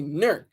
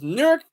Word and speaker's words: Newark: and first of all you pronounce them differently in New Jersey it's nerk you say nerk in Delaware you say nework it's a difference newk is nework New Jersey and Newark Delaware just